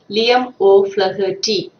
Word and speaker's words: Liam O'Flaherty: The pronunciation is Liam O'Flaherty.